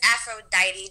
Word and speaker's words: Afrodite: good stuff right so my artist name is afro diety just like the goddess but I actually spell it with a f um it does have